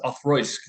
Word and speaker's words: Auchroisk: All right, so the way you pronounce this, Auchroisk, the CH is more of a TH sound.